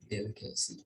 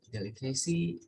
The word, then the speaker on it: delicacy: For instance, delicacy, delicacy, accurate, accurate, yeah, interesting, yeah. So this is stress on the first syllable.